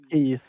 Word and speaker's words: Keith: Yeah, I think I read it as Seth because I'm a Swede and we have a different way of pronouncing the letter E.